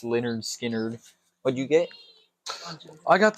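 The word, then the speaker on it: Lynyrd Skynyrd: yeah so what's that one skard oh nice pronounced leard skard what' you get I got the uh the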